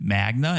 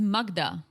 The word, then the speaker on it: Magda: could understand him thinking oh maybe she said Magna and he just went with it but he could see your name spelled out yeah plus I'm sure she pronounces it she says Magda yeah she says Magda